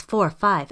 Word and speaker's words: Interstella 5555: That's 45 as opposed to 5555 or quadruple 5.